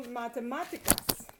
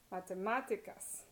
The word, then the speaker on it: matemáticas: For example, matemáticas. You hear máticas, matemáticas. So that's third to last syllable.